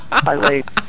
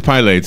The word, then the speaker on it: Pilates: Pilates. It is Pilates. It's not Pilates. That's right. I don't see three syllables.